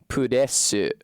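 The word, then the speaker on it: プレス: Pudesu. There's a u in the first and the last syllables that isn't actually supposed to be there.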